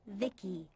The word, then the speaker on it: VICI: transistors by the way i'm vici pronounced vicky my creator was vivi